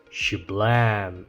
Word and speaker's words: Cejour: her the Vmax and I pronounce it with a French name because I'm partially French but mostly because sh in French means this day this moment which is a freaking